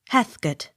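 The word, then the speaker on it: Heathcote: o u r t harket accent on first syllable h e a t h c o t e hath got h e r t f o r d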